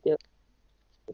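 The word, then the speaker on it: DALL-E: I think they pronounce it Dale E.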